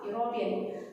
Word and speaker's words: European: First letter is E, but we are not going to pronounce E. We are going to pronounce, the sound is just like yeah, European.